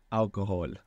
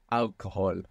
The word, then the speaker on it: alcohol: and I don't take alcohol I don't drink alcohol and I don't drink alcohol Al good cuz we don't pronounce h in Spanish do we no or if you